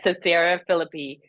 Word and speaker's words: Caesarea Philippi: yeah, Caesarea Philippi, he I asked don't his know.